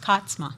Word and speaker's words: Katzma: it actually is pronounced Katzma. Katzma. Yeah, I but like you that. know, yeah, so it's. But everybody does Katzma, so it's absolutely fine.